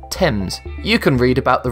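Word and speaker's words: Thames: The spelling remained but the pronunciation did not change. Therefore, the right way to say it is temps.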